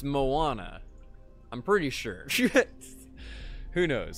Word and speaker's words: Moana: I think I say Mona. And it's Moana.